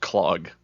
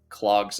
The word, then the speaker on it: klog: I believe it's pronounced clog, just for the record.